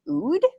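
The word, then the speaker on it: oud: perfecting an instrument i guess it's called the ood you said it right yeah i'm just wondering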